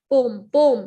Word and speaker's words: poem: Poem, it's pronounced poem because whenever there are 2 vowels in one word, one vowel gets silent, because हम दोनों vowels को नहीं pronounce कर सकते. poem नहीं बोल सकते, हम poem बोलेंगे इसको. E silent है इसमें, poem.